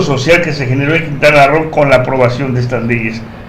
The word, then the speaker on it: Quintana Roo: Perdón, no es Quintana Roo, para Quintana Roo, que es lo correcto la pronunciación, sí.